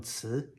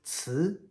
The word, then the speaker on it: 词: Our next second tone 词, it means word.